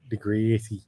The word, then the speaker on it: Degrassi: do you say it how do you say it in Ohio Degrassi yeah say that again I'm gonna put the dog over one more time degrees yeah see how the Canadians say it look at my life